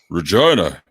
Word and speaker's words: Regina: Yeah, I mean, That's the city that rhymes with fun, isn't it? So that's what every touring musician ever would open their set saying when they play our town. Regina.